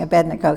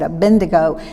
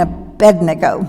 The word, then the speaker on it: Abednego: shadrach meshach and abednego i have a hard time pronouncing abednego because when i was a girl scout at camp singing that song i always said a bendigo talk about undoing old